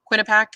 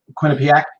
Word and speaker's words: Quinnipiac: Quinnipiac. Quinnipiac. Quinnipiac, thank you. Yeah, yeah. I have to put the pronunciator in.